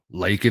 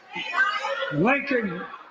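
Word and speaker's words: Laken: during his speech hey say her name leak Riley leak not not any other name Leen let's see what Joe Biden does here Lincoln Lincoln Riley an innocent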